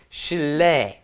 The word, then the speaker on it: 실례: is of course it just ends up being pronounced Sheila Sheila Sheila honey - right and Sheila in